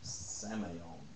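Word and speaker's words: semeion: i o n but it's PR pronounced with a long a seon samon that's as close as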